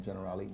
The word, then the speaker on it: Generali: And of course, friend Chandra Sawyer, Health Promotion Associate at Generali Worldwide.